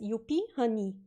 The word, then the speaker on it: Yupie Hunie: q a question uh so you pronounce my name um as you p honey so this means that you pronounce my name pretty much how a portuguese or german person would pronounce it just you pee and uh honey write the word honey that these make you know except you write it with the h-u-n-i-e e instead of like honey so yeah you'll be